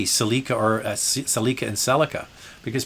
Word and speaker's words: Celica: In Canada, it's a Toyota Celica. In the United States, it's a Toyota Celica. But boy, if you call it a Celica, the American, they'll just pound on the keyboard and let you have it.